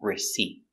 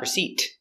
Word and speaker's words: receipt: put your tongue up receipt not receipt but receipt receipt the stress is on the second syllable receipt receipt receipt let's